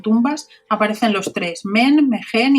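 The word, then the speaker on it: Mehen: Se pronuncian casi iguales, Men y el otro es Megen. Es una H intercalada, pero la H se pronuncia como una J en egipcio, sí, exacto.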